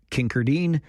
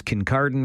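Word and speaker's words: Kincardine: And I like to joke about Kinkerdine, which is Kin Cardan right up there by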